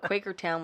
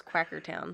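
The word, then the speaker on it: Quakertown: that like shuckles River you also thought Quaker Town was quacker town I did I did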